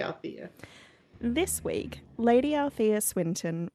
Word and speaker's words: Althea: There is an extra syllable in there, but Yeah. I would say Althea.